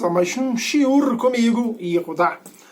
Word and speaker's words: Yehudá: Sejam bem-vindos a mais um Shiur comigo, Yehudá. Ou Yehuda, se preferir, na pronúncia mais moderna do Ivrit.